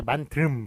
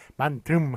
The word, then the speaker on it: 만듦: 예, 그렇기 때문에 만듦 하고서는 리을 미음을 동시에 발음하지 마시고 요거 발음은 미음입니다. 리을 미음의 발음은 미음으로 그렇게 통일되었으니까 뒤에 표준 발음법에서 나옵니다.